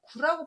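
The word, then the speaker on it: 龜: 두 번째도 거북귀자인데, 거북귀라고 발음할 때가 있고 구라고 발음할 때가 있고요. 거북이 등 껍질에다 불을 지펴서 옛날에 점을 봤다고 해서 터질균이라는 발음이 있어요. 그래서 귀 발음과 구 발음과 균 발음이 있는데, 천천히 보면 거북귀자가 써서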